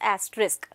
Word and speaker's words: asterisk: are making use of this symbol that is asterisk okay so i hope i am making myself very clear to you about the pronunciation about the usage of it but still